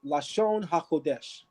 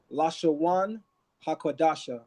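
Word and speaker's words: לשון הקודש: of the holy tongue, we say Lashon HaKodesh. The Messianic community goes by a different set of rules for pronunciation. So they actually say Lashawan HaKodasha or HaKadash, which essentially means the holy tongue.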